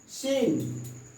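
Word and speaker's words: scene: Acknowledge, सीन, इस तरह से आप देख रहे हैं कि सी जो है साइलेंट हो जा रहा है।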